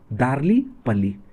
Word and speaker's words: दार्लीपल्ली: इसका सही प्रोनाउंसिएशन क्या होगा? दार्लीपल्ली।